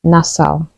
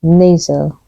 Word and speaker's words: nasal: Seven Dwarves Dwarf dwarf this word is often pronounced incorrectly as nasal the correct way to say it is nasal nasal here's an example